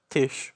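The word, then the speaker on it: Taije: read the novel but this character is called Tish Miner though uh her name is spelled t-a-i-j-e uh long story for that one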